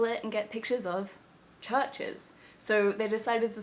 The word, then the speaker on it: Chvrches: fact about their name the reason that they're called churches with a v instead of a u is because they were